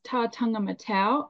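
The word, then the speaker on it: Tataga-Matau: hiking the ancient trail to the site of tangam matau so it it's pronounced tangam matau and it was probably a record number of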